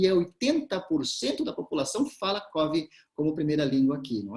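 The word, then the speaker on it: Cofi: E é um dialeto que eles chamam de Covi, se escreve com F, C-O-F-I, Covi é a maneira como eles falam, e 80% da população fala Covi como primeira língua aqui, não é?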